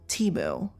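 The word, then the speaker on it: Temu: You know, I love Teu. Timu. Sorry. Well, they say Teu. It's Yeah, it's just Okay. Their press releases say pronounce it as Teeu.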